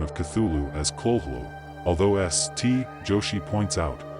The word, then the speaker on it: Cthulhu: The Call of Cthulhu and Other Weird Stories, the first syllable of Chtulhu is pronounced gutturally and very thickly.